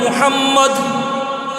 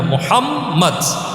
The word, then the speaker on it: মুহাম্মদ: উচ্চারণ করি, যেমন বলেন মুহাম্মদ, মুহাম্মদ নাম উচ্চারণ করার সাথে সাথে আমাদের দুইটা ঠোঁট মিলে যায়, ঠিক কিনা বলেন? তো দেখেন না, মুহাম্মদ, দুইটা ঠোঁট একসাথে মিলে যায়।